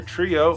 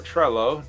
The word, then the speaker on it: Trello: using another service called either Trio or Trello, depending on your views on the double L and how you pronounce that.